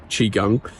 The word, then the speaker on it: Qigong: to do exercises like Qigong Qigong Qigong it's actually the right pronunciation Qigong every morning for 20